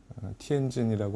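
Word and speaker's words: 天津: 티엔진이라고 하는데요. 중국어 발음으로는 명칭을 보면은 이 천자가, 그러니까 황제가 건너갔던 나루, 황제가 도하한 나루라는 뜻입니다.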